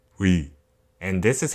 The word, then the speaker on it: ㅟ: this vowel is called we and this is how you write it it is a combination of u and e so the pronunciation goes